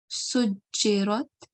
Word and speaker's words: sujjirat: Okay, a jim which is carrying a tashdeed. And we know that the way to pronounce it is to emphasize on it, to press on it. Sujjirat. Okay, sujjirat. So there's, if you listen carefully, you can hear a double sound.